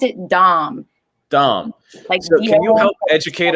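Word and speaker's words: Daum: vase that none of us can pronounce properly pronounce it dom dom can you help educate us all on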